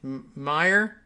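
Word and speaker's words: Meijer: five was peter uh did we decide his he was pronouncing it meyer m-e-i-j-e-r uh somebody actually gave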